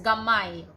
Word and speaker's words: gamay: gamai gamai means small gamay you pronounce it as gamai okay so we have